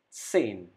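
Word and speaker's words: zehn: six now zeben number seven again s is pronounced as zed zebin number seven number eight act number nine nine then number ten sane rule number two numbers 11 and 12 don't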